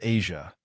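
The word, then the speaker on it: Eja: Their son, Asia, pronounced Asia, was born on August 12, 2001.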